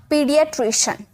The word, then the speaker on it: paediatrician: Okay, PAEDIATRICIAN, पीडियाट्रिशन, पीडियाट्रिशन। तो यहाँ पे आपने देख सकते होगे EA का उच्चारण, AE का उच्चारण यहाँ पर ई, बड़ी का।